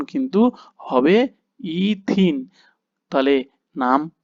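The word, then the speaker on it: ethene: কি হবে এর উদাহরণ তুমি দেখো ইথিন এর উচ্চারণ কিন্তু হবে ইথিন তাহলে নাম কি হয়ে গেল না তুমি দেখো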